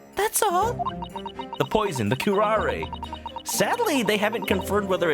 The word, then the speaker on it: curare: The poison, the curare.